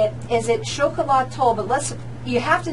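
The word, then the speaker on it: Xocolatl: is, and let's just say it, is it Chocolat Toll, but let's, you have to know how to spell it, so that's why I'm going to spell it out for everybody.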